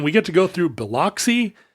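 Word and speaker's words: Biloxi: get to go through beloy or buuy I'm sorry is that right buuy buuy I think is how they say it and um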